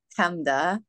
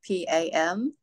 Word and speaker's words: Pamda: It's PAMDA, PAMDA, and then Buri.